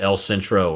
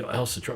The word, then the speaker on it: El Centro: And he, El Centro, what? Well, I don't know what that is. And then if you pronounce it the right way, El Centro, or so put the accent on the other syllable.